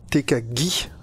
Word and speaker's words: Tekagi: J'ai fait mes recherches hein, sur Tekagi, et ça se prononce bien Tekagi, avec un G dur comme ça.